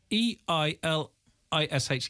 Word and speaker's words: Eilish: E-I-L-I-S-H. Eilish. Because Eilish would be A-I-S-L. No, E-I is pronounced A, I think.